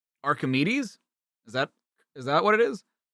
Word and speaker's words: Archimedes: A as in far. K as in kind. Arc. High. K as in kind. Archi. Wait. E as in fleece. D as in die. Kit. Okay. Archimedes.